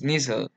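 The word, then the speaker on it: Nissl: inglés y no es así es ser su pronunciación es nissan entonces lo podrían encontrar en libros como sustancia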